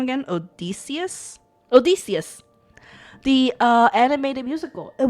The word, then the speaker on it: Odysseus: Odysseus.